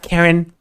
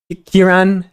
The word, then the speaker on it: Kiran: yet it's shut up karen kiran is it kiran karen that's a cool name actually kieran i'm sorry for calling you a karen i read your name wrong it's not karen it's kiran chat i bet he